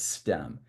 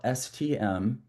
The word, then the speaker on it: STEM: And so from a marketing guy, the first thing I want to tell you is how do you pronounce it? And it's STEM. Now we call it STM, just that's kind of the little marketing flair we threw on it.